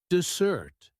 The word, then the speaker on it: dessert: For example, dessert has the stress on the second syllable, dessert.